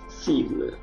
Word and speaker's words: cible: Jadi huruf C yang diikuti oleh A dibaca A, U, O itu dibaca K, capable, sementara huruf C yang diikuti oleh huruf I atau E dia dibaca S, cible.